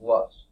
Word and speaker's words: loess: Now, it looks like it's loess or something like that. It's pronounced loess.